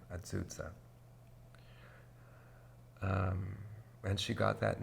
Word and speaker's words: Ah-ZOO-Zah: pronounced 'Ah-ZOO-Zah' that's her name. 'Ah-ZOO-Zah' And she got that name from an elder lady named Emma Brown.